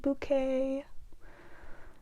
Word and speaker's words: Bucket: And her name is Hyacinth Bucket. But whenever anyone calls her Mrs. Bucket, she's like, it's pronounced bouquet.